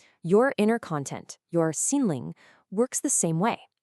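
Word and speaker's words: 心灵: Well, that brings us right to our next layer, what we call your inner content, or in Chinese, xinling, pronounced xinling.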